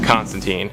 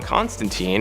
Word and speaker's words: Constantine: John Constantine, and yes, I know technically it's pronounced Constantine in the original source material. The pronunciation of Constantine has become way more popular, and it's been used for almost all of his live action and animated appearances, so I'm just using